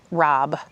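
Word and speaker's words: rabe: Broccoli rob even though it is spelled R A B E.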